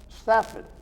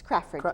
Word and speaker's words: Crafford: But with me right now is Laura Stafford. Did I say it right? It's Crafford. It's Crafford. What did I say? Stafford, I did it again. Crafford, Laura Crafford Okay.